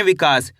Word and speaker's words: विकास: आपको करने के छोटी की मात्रा का उच्चारण कम खींच के करना है। क्या करना है? कम खींच के, क्योंकि एक मात्रा ऐसी की तरह होती है इस प्रकार की, यह बड़ी ई की मात्रा होती है।